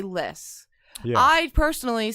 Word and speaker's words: Lys: But if you want to say Lys or Lice or Lys, they're all right, basically.